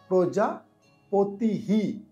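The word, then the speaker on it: প্রজাপতিঃ: পুরো বাচক পুরো বাচ প্রজা পতিহি প্রজা পতিহি বিসর্গ থাকলে হ এর উচ্চারণ থাকবে আর যে মাত্রাটা আগের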